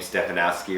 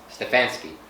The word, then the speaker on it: Stefanski: I'm not even going to try to pronounce his name. Stefanowski or whatever.